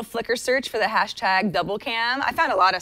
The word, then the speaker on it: Dblcam: An app called Double Cam that's spelled DBL CIM kind of sort of achieves this.